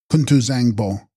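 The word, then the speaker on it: Kun-tu-bzang-po: of the sky and text kunu Bango pronounced kunu Zango Sanskrit samanta badra all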